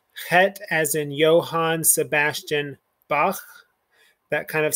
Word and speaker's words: Bach: guttural but it's it's just a slight guttural like johann sebastian bach hanukkah um the braided bread that we